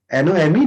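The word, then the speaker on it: gnome: Okay, तो जी से पहले एन आया तो जी को हम लोग साइलेंट कर देंगे. इसको नोम बोलेंगे. NOME नोम. ये देखो है नोम.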